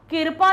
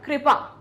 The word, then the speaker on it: कृपा: फिर होता है कृपा, कृपा नहीं होता है, क्या होता है, कृपा। का के नीचे री की मात्रा होती, कृपा नहीं कहते हम, क्या बोलते हैं हम, कृपा।